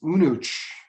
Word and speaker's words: Aonadh: This is not Aonadh, it is Unuch.